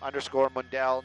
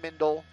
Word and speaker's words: Mundel: It's _Mundel, not Mindel, not Mandel. I'm not one of the wealthy Mandels. I'm the poorer side of the family of the Mundel, M-U-N-D-E-L.